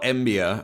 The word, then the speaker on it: Mbiya: But uh the reason I bring this up on today's show is uh Paul Embia, I believe is how you pronounce his name, is going to NC State.